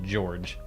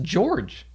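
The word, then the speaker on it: Jorj: flight and there's literally a character named george but it's spelled j-o-r-j so when you're reading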